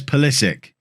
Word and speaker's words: Pulisic: croatian he's american and i am told the man himself says politic so if that's how he says his own name that's how i'm going to say his name and so to my